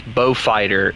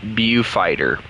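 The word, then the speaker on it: Beaufighter: I keep calling it Bow Fighter or Bew Fighter, and I've had several people tell me it's Bow Fighter, even though it looks like it's pronounced Bew Fighter.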